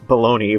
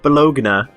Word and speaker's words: Bologna: CLOVE: Uh, so, there is a Saint Bologna, but you have to pronounce it "Bo-log-na," cause it sounds cooler.